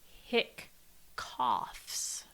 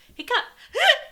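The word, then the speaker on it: hiccough: seen the spelling where where it's hick coughs like spelled like h-i-c-c-o-u-p no o g f h where it's like a hiccup hiccup anyways coordination gives me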